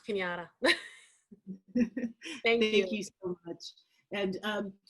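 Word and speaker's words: Cañada: It's pronounced Kenyatta.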